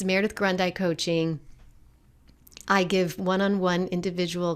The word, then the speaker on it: Grundei: rest of my life, and it would be pronounced Grundei for the rest of my life. And I have found both to be true. So it's Grundei Coaching, which is spelled Grun as in Nancy, D as in dog, EI.